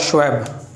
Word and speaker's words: Schwab: Founder of world economic forum जो है वो है क्लाउस श्वेब, नाम काफ़ी हेवी है, KLAUS, क्लाउस, सेंटा क्लॉस का ये वही स्पेलिंग है, KLAUS, क्लाउस।